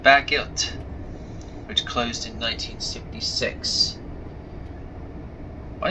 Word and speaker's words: Bagillt: me, not it's called Baggilt, which closed in 1976. Why did I say Bagliffe? That was very not a very good idea to say that. No, it's Baggilt, which is spelled as Bagillt.